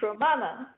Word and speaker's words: Romana: very much salamina uh I can teach you how to pronounce my name my name is pronounced Romana okay so I'm teaching you how to pronounce my name which is Romana yes thank you it's